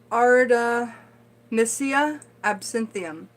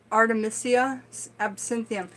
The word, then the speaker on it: Artemisia absinthium: It is pronounced Artemisia absinthium. Artemisia absinthium.